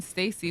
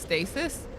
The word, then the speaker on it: stasis: is the time when Stacy was a thing we were called gray mispronounced stasis as Stacy it's too hard so